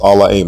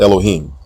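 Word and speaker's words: אלהים: This particular word from Genesis 1:1 is pronounced Allah-Aim, not Elohim. There is no long O vowel in this word, and the letter Ha is silent unless it is the first letter of a word.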